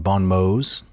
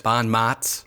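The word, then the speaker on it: bons mots: And preserved for us by Plutarch in his Parallel Lives, we have some really interesting little, I think it's pronounced bon mots. Yes. Bon mots.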